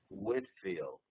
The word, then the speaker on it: Whitefield: its name they they they dropped the E and it's so it's properly pronounced George Whitfield and he he actually